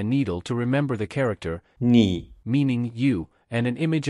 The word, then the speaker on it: 妳: 你 and 你 have the same pronunciation, which is 你.